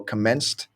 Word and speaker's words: commenced: so this almost commenced when words end with Ed you have to be really careful because they can either sound like or ID so for example commenced it's almost like a an st sound even though that's not how it's written and then otherwise it